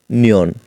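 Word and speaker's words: 니은: মিউম আর ন এর কুরিয়ান রূপ এর কুরিয়ান উচ্চারণ হলো নিয়ন মটি একটি মূলত একটি বর্গাকার আর নিয়ন এর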